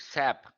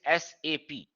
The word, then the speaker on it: SAP: SAP, people pronounce it SAP, which is wrong. It is SAP.